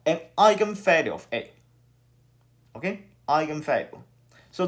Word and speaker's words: eigenvalue: here is called an eigenvalue of a okay eigenvalue so look that this is a german term okay this is a german word and it's pronounced as eigen eigenvalue and hopefully fee is